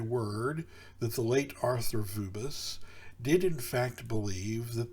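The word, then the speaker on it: Vööbus: So, quoting author Vubis is the way his name is spelled. I've heard that it's pronounced Vebus.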